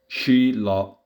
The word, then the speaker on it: śīla: La pronunciación correcta en sánscrito sería más o menos así. Shila